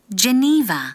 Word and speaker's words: Geneva: Geneva, 네, 게네바 아니에요. 우리도 제네바라고 하고 Geneva. 네, 니의 강세가 있어요. Geneva.